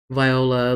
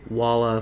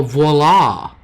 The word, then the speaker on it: voila: Connie said, it's like me saying viola. Literally, I learned it was walla phonetically. Oh, voila!